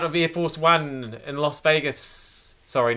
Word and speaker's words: Las Vegas: Air Force One in Las Vegas sorry not Las Vegas Las Vegas stop saying loss it's Los Angeles it's Las Vegas I can cope with